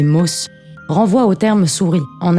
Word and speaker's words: Maus: Ce dernier, que je devrais plutôt prononcer Maus, renvoie au terme souris en allemand et exprime d'emblée le point de vue d'où l'histoire se situe.